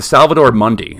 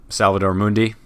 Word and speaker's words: Salvator Mundi: it was purchased the Salvador Monday am i pronouncing that right Salvador Mundi Salvador ma is not month Mundi all right - Salvador mundi mundi are you sure about that Danny it's not Monday it's in tout it's